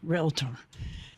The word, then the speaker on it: realtor: our code of ethics, they finally are saying realtor.